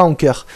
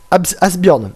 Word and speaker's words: Asbjørn: C'est pas Anker. C'est Asbjørn.